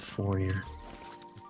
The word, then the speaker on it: foyer: Yeah, the foyer foyer. It's pronounced forer.